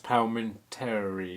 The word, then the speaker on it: Palminteri: And Chaz Palminteri, is that how you pronounce it?